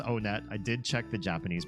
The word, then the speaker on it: Onett: Just kidding, it is pronounced Onett. I did check the Japanese pronunciation. And in Japanese when you go to this first town they pronounce it Onetto.